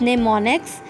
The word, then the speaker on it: mnemonics: The commands are represented in assembly language by short names called mnemonics, pronounced as mnemonics.